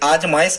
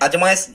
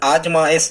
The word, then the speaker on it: आजमाइश: इसे आजमाइश कहें, अजमाइश नाम का कोई शब्द नहीं होता हिंदी में, आपको सही कहना है आजमाइश, और यहाँ पर सा शक्कर का बनाना है, ठीक है स्टूडेंट्स।